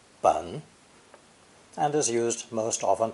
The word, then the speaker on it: 本: This character is pronounced third tone, bun, bun, and is used most often to indicate the root, origin, source, or foundation of something.